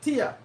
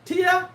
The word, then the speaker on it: tier: They're what we call top tier. That the sound, is that the pronunciation? Remember I said English is my third language? Is that tier? T-I-E-R, tier, right?